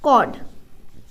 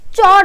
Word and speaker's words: chord: अब हम लोग का अगला पार्ट है कॉर्ड। इसको हम चॉर्ड नहीं पढ़ते हैं, इसको हम कॉर्ड पढ़ते हैं। चॉर्ड, CHORD, चॉर्ड। कुछ लोग पढ़ते हैं चॉर्ड। ये सही प्रोनाउंसिएशन नहीं है फ्रेंड्स, सही है कॉर्ड।